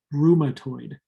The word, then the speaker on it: rheumatoid: ads for drugs that treat rheumatoid arthritis it's pronounced rheumatoid rheumatoid arthritis is an autoimmune condition that means